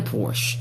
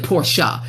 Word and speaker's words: Porsche: Maybe I'll ride around in the Porsche or something, Porsche, excuse me, not from pronouncing that wrong.